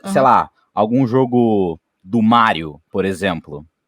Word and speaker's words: Mario: se lá a conheço Mário conheço tá o personagem se personagem aqui você pronunciar Mário Luigi não Mario e Luigi isso aí já tem